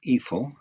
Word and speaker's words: Eiffel: Gustaf Eel, I'll use the English pronunciation Eiffel from now on.